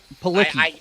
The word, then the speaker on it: Palicki: Palicki, I think is how you yeah, pronounce her Palicki.